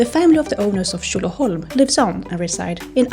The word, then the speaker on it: Tjolöholm: So Tjolöholm, the name, is actually from the 1200s, and locals say Tjolö.